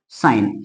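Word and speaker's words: sign: बचा जी ए तो जी एन में जी होता है साइलेंट और एन को पढ़ेंगे तो क्या बन गया साइन अब मैं अगर बात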